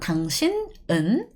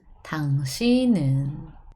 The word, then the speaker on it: 당신은: So this bottom consonant travel next. And when we pronounce it, it's not 당신은. We have to pronounce it a bit more softer. 당신은. Not 당신은, 당신은. Okay? 당신은.